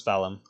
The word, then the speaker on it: Pfalum: Yes, this is Fallon. Just pronounce it with an F. It's easier that way.